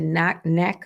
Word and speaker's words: NACA: And if your circumstance set you up that you're eligible to participate in the NACA, that's how you pronounce it, Yeah, the NACA NACA program.